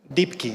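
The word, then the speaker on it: Deepki: voy a dar con el tema de climate dikiy es una empresa francesa que es muy raro además que empresas dikiy se escribe como profundo y luego k y vale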